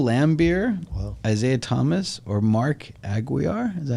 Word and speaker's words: Aguirre: the choices bill lambert isaiah thomas or mark aguiar is that how he pronounced the last name mcguire aguirre okay let's see billye who did the pistons